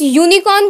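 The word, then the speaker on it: unicorn: जब हम इस यूनिकॉर्न को बोल रहे हैं, उच्चारण कर रहे हैं, तो या की आवाज आ रही है, तो इसलिए हम यहाँ पे एक लिखेंगे, आ यूनिकॉर्न।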